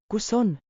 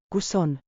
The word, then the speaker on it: Kus on: Say it with me on a clap beat, short, confident, friendly. Clap, clap. Kus on? Clap, clap, place. Feel the two-beat chant. Kus? Like, kus, but short.